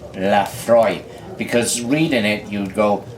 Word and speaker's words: Laphroaig: The bottle very aptly tells you that Laphroaig is pronounced Laphroaig. because reading it you'd go Laphroaig, and it comes from Scotland, or as I prefer to call that wonderful country, Scotchland.